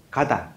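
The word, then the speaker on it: かた: 형, 폼을 익힌, 가다. 가다라고 발음하지요? 폼. 일본 말로, 가다.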